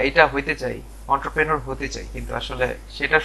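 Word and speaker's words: entrepreneur: এরা ইন্টারপ্রেনর, ইন্টারপিওনর, হ্যাঁ, অন্টারপ্রেনার এরকম উচ্চারণ করে। কিন্তু একটা জিনিস খেয়াল করে দেখেন, আমি ওয়ার্ডটা লিখছি, এটা আসলে এন্ট্রপ্রেনর বা অন্টারপ্রেনর, এন্ট্রপ্রেনর বা অন্টারপ্রেনার এরকম কিছু না, এটা হচ্ছে অন্ট্রাপ্রেনর, অন্ট্রাপ্রেনর, অন্ট্রাপ্রেনর, ঠিক আছে?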